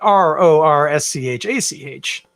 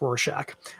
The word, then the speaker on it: Rorschach: can trip people up i just wanted to let you know that's how we spell it r-o-r-s-c-h-a-c-h that's rorschach um some people pronounce it rorschach hey you do you i'm not gonna judge